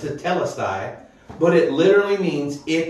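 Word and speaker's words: τετέλεσται: It's hard to pronounce, tetelestai, but it literally means it is finished.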